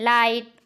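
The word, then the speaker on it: light: किसी भी वर्ड के लास्ट में GHT आए तो लास्ट में आए GHT में जी साइलेंट हो जाता है, HT पढ़ा जाता है। एग्जाम्पल्स देखते हैं, लाइट, नाइट, हाइट, माइट, ब्राइट, thought, bot, cot, fought, dot.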